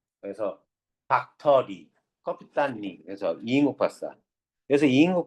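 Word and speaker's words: 꺼삐딴: 캡틴의 소련너 발음이 커피딴입니다. 그래서 박터리 커피딴 그래서 이인국 박사 그래서 이인국 박사는 어떤 삶만 살냐면요.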